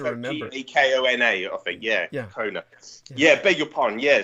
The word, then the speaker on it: Gakona: And like you said, you got Gakona in Alaska, which is where Gakona is how it's pronounced. Gakona. So go on. Yeah. Gakona. Sorry, what did I say? Did I say Gatona?